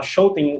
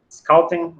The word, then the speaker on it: Schouten: Minha pronúncia é um pouquinho diferente da do Fábio, eu vou falar Schouten o tempo todo aqui, tá bom? Schouten, Schouten, é a mesma coisa.